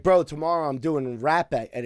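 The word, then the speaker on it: rapé: us to call the hopper yeah i think that is the because he's probably brazilian and the rs they pronounce h yes and it's funny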